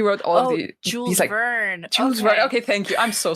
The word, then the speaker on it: Jules Verne: Did you say Javin? I don't know how Americans pronounce it. I'm so sorry. 20,000 Leagues Under the Sea. Yeah. And he wrote all of Jules Verne. Jules Verne.